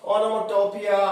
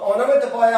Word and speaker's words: ओनोमेटोपोइया: ओनोमेटोपोइया, इसको अलग अलग प्रोनाउंस किए करते हैं कुछ लोग, ओनोमेटोपिया, ओनोमेटोपोइया, पर करेक्ट यही है कि ओनोमेटोपोइया। तो ओनोमेटोपोइया होता क्या है, देखो